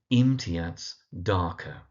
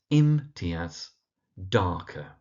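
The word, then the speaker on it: Imtiaz Dharker: And then last but not least we have the writer imiats darker. So that's imat darker. So in imiats is on the im and then darker on the dark.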